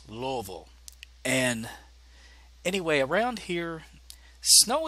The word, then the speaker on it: Louisville: yes if you're a Louisville Ian you just pronounced Louisville not Louisville or Louisville it's Louisville and anyway around here snow isn't that common